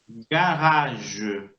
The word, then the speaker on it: garage: Fíjense que ahí la R, que está entre las dos AES, también suena gutural.